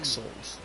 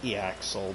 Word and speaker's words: Ixal: Ixals. I pronounced it Eaxel, but yeah, that would require the A on the other side of the X. So Ixal is probably the proper pronunciation.